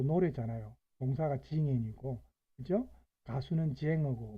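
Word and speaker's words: Sänger: 민네장을 만들고 부르는 사람은 민네 쟁어, 독일어로 쟁어 하면은 가수죠. 동사가 징엔, 명사가 장, 사람이면 음라우트 붙었기 때문에 에 발음해야 되니까 쟁어입니다.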